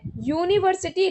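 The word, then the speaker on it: university: अ honest wrong है क्योंकि एच is silent, an honest सही है, एन यूनिवर्सिटी गलत है, यूनिवर्सिटी लाइक्स यू, तो यू के लिए यू वॉवेल नहीं है, ये कॉन्सोनेंट है, या आ रहा है ना यू, या कॉन्सोनेंट है, तो यहाँ पे ई आता।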